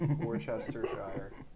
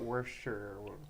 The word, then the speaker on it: Worcestershire: little bit of worcestershire did you say it right yeah worcestershire yeah not worth sure they'll say benedict cumberbatch